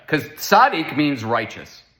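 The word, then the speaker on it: צדי: the word was I thought the letter was sadik." No, it's actually Sadi. But the fact that that there is an actual like makus, right, that there's a disagreement shows there's something unique about the letter because sadik means righteous, right?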